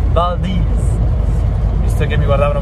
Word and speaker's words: Valdez: altro posto fighissimo anzi si scrive walter ma si pronuncia boldi ho visto che mi